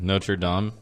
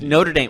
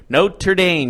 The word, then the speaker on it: Notre Dame: and being independent on note you're dumb that's the Hunchback it's Notre Dame okay happy I said it right Notre Dame you know who I'm